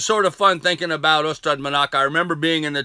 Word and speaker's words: Ystrad Mynach: And in fact, we were being hosted by a school and a community in Wales called Ystrad Mynach, I think is the correct way to pronounce that, Ystrad Mynach.